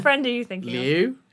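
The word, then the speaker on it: Liu: of the stream but it's l i u like Le I'd say Le or maybe l or Le name she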